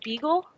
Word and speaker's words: Beagle: Beagle.